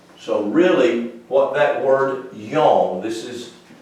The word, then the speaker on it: yom: what oh four so really what that word yong this is y o w m that's how you say it in hebrew yong and here's what that word means it means